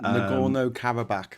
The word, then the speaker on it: Nagorno-Karabakh: We started off talking, Geoscope about the conflict in let's pronounce it properly, Nagorno-Karabakh in Armenia, not Armenia, Nagorno-Karabakh.